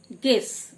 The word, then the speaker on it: guess: গেস, GUESS গেস মানে অনুমান করা, ইউ সাইলেন্ট।